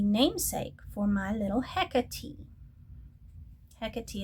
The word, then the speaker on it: Hecate: Hecate is the more contemporary pronunciation. But since I have Hecate, and she was named after Hecate, I had to do this one.